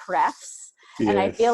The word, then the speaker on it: href: it right today, but normally I naturally say hrefs.